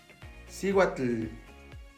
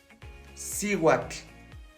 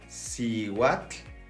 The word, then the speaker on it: Cihuatl: Vamos a pegar nuestra lengua a la parte de arriba del paladar y vamos a sacar una T.